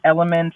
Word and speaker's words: ELYMVNT: like that okay so my name is element I'm from Denver Colorado it's spelled e l y mbnt uh the song is